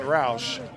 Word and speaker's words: Roush: get there by the way this is Roush is that how you pronounce that yeah Rous and a couple balls